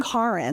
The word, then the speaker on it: Karin: Um I'm Karen, like car in the garage or car insurance. So, not Karen, although that's a great name.